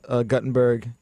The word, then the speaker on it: Guttenberg: be honest give me a break and the pronunciation of your last name is he's guten same it's Gutenberg he supposed to beut Gutenberg yeah they made